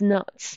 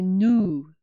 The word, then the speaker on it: no: But it's not. It means in the. Em un. Okay. And pronunciation, we need to say nu, not no.